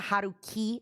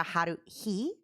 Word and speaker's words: Haruhi: For some reason in my mind, she's always a Haruki, not a Haruhi.